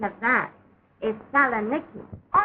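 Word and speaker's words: Salonika: Kagy, but the correct pronunciation of that is Salaniki.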